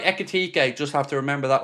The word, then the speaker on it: Ekitike: So, let's talk a little bit about Akitake because Connor knew I mispronounced that one by the way. Akitake. I think that one's right, isn't it? Uh, echet. There we go. I've got it right. Echique.